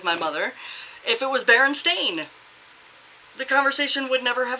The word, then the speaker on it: Berenstain: because of the stupid Berenstain, but I was explaining to her why it was pronounced the way it was because of the EI and IE. Whichever one is second is the one you pronounce.